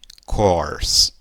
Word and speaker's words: course: E eu gostaria que você reparasse que esse ezinho final também não é pronunciado em inglês, então ele vai embora, ok? Então, a pronúncia ficaria o quê? Course, course, ok? Então, esses dois es não são pronunciados, então ficaria curse e depois course.